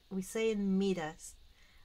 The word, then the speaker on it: Midas: Midas or Midas, how you say it in English? We say it Midas.